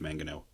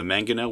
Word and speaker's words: mangonel: I believe it's pronounced mangonel.